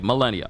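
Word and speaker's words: Malenia: Okay, Millennia. Okay, so I was saying it right. M-A, not M-E.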